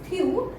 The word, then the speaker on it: tu: We have one more U here, but this tu we use for informal. So informal U, we pronounce it tu.